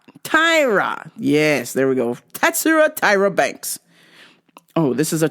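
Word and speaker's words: Tatsuro Taira: Simon Petrino uh let me say it right tatsuro tyara Tyra yes there we go tatsura Tyra Banks oh this is a tough one here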